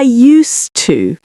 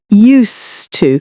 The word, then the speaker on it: used to: Um when you say I used to. So, again, we've got the s sound, not zed. Used to.